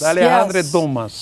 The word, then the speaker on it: Alexandre Dumas: Alexandre Dumas.